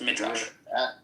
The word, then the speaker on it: Midrash: Yo, Mixed said that he was referencing Midrash or Midrash. Yeah. Sam can correct me on the pronunciation. No, you said it right. Millis was trying to confuse you. It is pronounced Midrash.